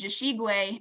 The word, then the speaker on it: Jishigwe: And then the one that we commonly use is Jishigwe. I was taught that the Jishi, that sound at the beginning of the name is meant to sound like the rattle.